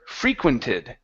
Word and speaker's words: frequented: here we have the word frequented so the stress is at the very beginning I frequented the major